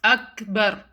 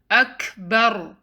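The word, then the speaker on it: أكبر: to two seconds allah next word is kaf has sukun hence you will do humps on calf which means you let breath out ah it's not akbar rather do hums on calf let some breath flow out akbar that you make in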